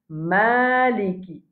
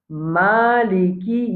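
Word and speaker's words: מַלִיכִ: Beaucoup de monde dit maliki, n'est pas bon. Nous devons dire maliki yawmiddin. Alors ça c'est un parmi les erreurs qui nous fait de sa verset là. Dans le mot malik, nous pas dire nous dire maliki mim fatha alif, il pas faire il fait ma.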